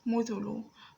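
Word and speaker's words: مُثُلُ: Muthulu is pronounced as mim with a dhamma over it. It's pronounced as mu. The second letter in that word is the tha with a dhamma over it is pronounced as thu. The third letter here is lam with a dhamma over it and pronounced as lu. Mu, thu, lu.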